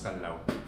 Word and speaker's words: Callao: So the correct pronunciation po is kallaw. Not kalaw sir kasi ang kalaw po parang hinati sa dalawa two syllables na ano so kallaw po.